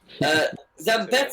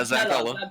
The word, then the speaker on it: Zampella: Zambetta, is that Zabaleta? Zampetta. I like the way you say it, to be honest. Zampetta. Yeah, Zampella. Yeah, thanks for us, man.